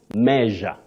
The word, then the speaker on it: measure: leisure leisure and meure Measure measure just like pleasure treasure.